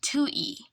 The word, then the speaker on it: Tutui: Tutui is pronounced Tui.